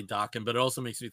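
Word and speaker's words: Daken: So I say Dakin, but that's just because that's how the A typically goes in, like, you know, Japanese names, I think. So I tend to say Dakin, but it also makes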